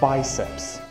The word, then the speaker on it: biceps: wiecie nazywa się biceps języku angielskim wymawia się w bajceps by zepsuć A dlaczego